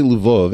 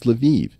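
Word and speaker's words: Lviv: way if I say Luv everyone's gonna correct me and say no no Eric it's leviv it's like no these spit these cities all have multiple pronunciations I I always thought of lavov was a Polish City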